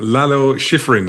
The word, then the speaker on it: Lalo Schifrin: Lalo Schifrin, is that right? Have I totally ruined my pronunciation? Yeah, no, you said it right.